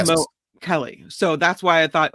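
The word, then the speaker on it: Mo'Kelly: But there is no pronunciation for the apostrophe because in Hawaiian that would be a stop like Mo Kelly.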